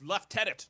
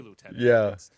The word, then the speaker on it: lieutenant: were saying um it's it's left tenant don't say it like an American and they made a thing I my whole life and I just thought oh it's lieutenant I always say lieutenant the American um version